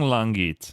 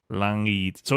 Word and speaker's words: Langit: Langit. So, it's not you and kill. Gets. It's like Langits. Like it's kind of like a soft G.